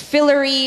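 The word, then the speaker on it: phyllary: below the flower or fillory is distinctively recurved and channeled are there any alternate pronunciations I it's very slight it's fillory or fillory does this contain the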